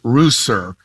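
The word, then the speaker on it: Ruser: call me John um my last name is pronounced Rouser think of it as the farm animal without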